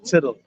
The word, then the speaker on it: tittle: One jot or one tittle. Why it's spelled like title. I know, but it's pronounced tittle.